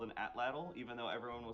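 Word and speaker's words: atlatl: that you get from here it's called an atlal even though everyone will say adalle but it's they're pronouncing it wrong it's an atlal um it's a range weapon yeah like a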